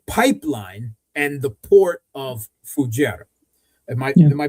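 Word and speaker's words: Fujairah: Moreover, what they hid in the UAE is the the pipeline and the port of Fuera. Am I am I pronouncing that correctly? Fujira.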